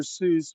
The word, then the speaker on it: Seiss: So I've used Seuss, but Seuss is spelled like Seiss.